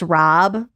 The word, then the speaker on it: rabe: And that's why it was funny, because it's R-A-B-E, but it's pronounced Rob.